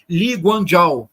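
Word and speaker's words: Lee Kuan Yew: estado moderno de Singapura que se escreve eu vou vou mandar para vocês como se escreve mas se pronuncia li guano eu vou vou mandar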